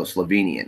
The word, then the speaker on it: Slovenian: Oh, Slovenian. That's how I'm supposed to pronounce that.